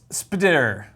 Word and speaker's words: SP//DR: This is Spider. It's hard to pronounce because it's Can you spelled spell that?